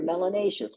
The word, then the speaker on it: melanaceous: If you have more melanin in your skin, you're melanaceous, which rhymes with gracious and spacious and efficacious, and it means more melanin in your skin.